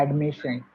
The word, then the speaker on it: admission: I thought I heard you pronouncing the last part of this word sion or tion as sun and not shun as it should be actually pronounced.